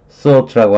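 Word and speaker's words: thwart: 그다음에 소트라고 하는 단어가 있어요. 제가 발음을 이거 맨날 투버스 이렇게 발음을 했는데 발음은 소트네, 소트.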